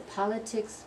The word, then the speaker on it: politics: politician political parties or politics politician political ok so politics first syllable politician third syllable political is the second sofa so in